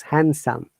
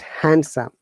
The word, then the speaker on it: handsome: Handsome, D is silent, it is handsome, not handsome.